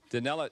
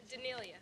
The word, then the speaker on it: Danelia: Which 8 of you ladies have, which 8 of you have caught someone getting very, Danella, is it Danella? Did I pronounce it correctly? Danelia. Danelia. Okay, I want to make sure I pronounce it.